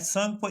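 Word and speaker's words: Tsangpo: इट is also known as संगपो इन तिब्बत, इसको तिब्बत में दूसरा नाम से पुकारा जाता है, टी साइलेंट रहेगा, SANGPO, संगपो इसको बोला जाता है तिब्बत में।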